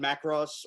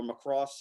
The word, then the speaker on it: Macross: never i never watched macross or macross however you want to pronounce it the emphasis goes on the other syllable uh but i'm gonna